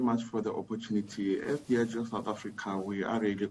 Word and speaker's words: Diageo: Firstly, Lebogang, am I pronouncing that correctly? Diageo. Diageo. Oh, Diageo.